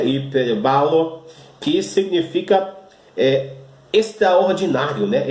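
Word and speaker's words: ὑπερβάλλω: Você não estranhe eu estar falando hiperbalo, porque é a pronúncia correta na língua grega, apesar de ter escrito aqui o perbalo, né? Mas a pronúncia correta do grego é hiperbalo, que significa extraordinário, né?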